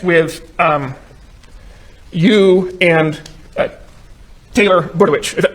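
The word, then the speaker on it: Budowich: um you and Taylor buit am I pronouncing that name right can you pronounce I get it right yes that's right budit that's right okay and you're texting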